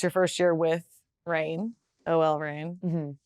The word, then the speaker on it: OL Reign: All right, so this year, it's your first year with Rain, OL Rain. That's the right way to say it.